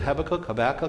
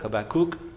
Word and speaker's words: Habakkuk: next slide please that you knew how to pronounce the name habakkuk is it habakkuk habakkuk okay there it is pronounce it just like that okay and just to